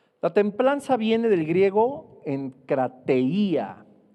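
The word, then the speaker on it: ἐγκράτεια: La templanza viene del griego enkrateia, con K y con I, con acento en la I, que significa dominio propio.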